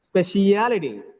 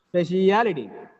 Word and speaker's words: speciality: anti-penultimate look at here speciality speciality in this word the last three syllables look at here a li t the last three syllables third from the last is stress speciality reality last three